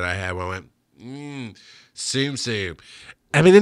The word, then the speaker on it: Tsum Tsum: And it is Tsum Tsum, not TSUM, not Tsum Tsum. It is Tsum Tsum.